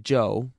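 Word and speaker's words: Chou: Joe was amazingly cooperative Joe spell @ch oh you if you want to be exotic it still pronounced Joe and that's his name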